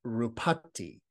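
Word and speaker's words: ruppati: the fact that the word deformed apparently is pronounced rupatti. And so it has a similar sound. It's a homophone.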